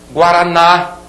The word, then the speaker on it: Guaraná: Guaraná, aqui a sílaba tônica sublinhada, é oxítona terminada em A.